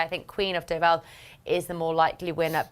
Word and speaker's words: Deauville: I think Queen of Deauville is the more likely winner, but Queen of Uplands just to take you and Barry on for a bit of fun.